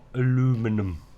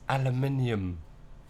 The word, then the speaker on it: aluminium: It's not aluminum. That's so crazy to say aluminum. It's aluminium. We're speaking English. It's aluminium.